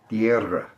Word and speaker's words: Tierra: Tierra. I can't roll my R's most of the time. It's the only fault I have in Spanish pronunciation.